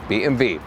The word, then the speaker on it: BMW: name is also about BMW or BMV as in the German original pronunciation and I love modern architecture